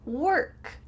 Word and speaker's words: work: Work, walk, work, walk. Do you notice the first word sounds like an ER?